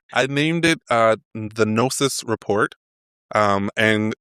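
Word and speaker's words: Gnosis: So, I named it uh the Nosis report. Um and the word Nosis is spelled G N O S I S.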